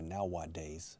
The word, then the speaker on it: nowadays: And children, nowadays, la A en medio, nowadays, no lo pronuncio yo.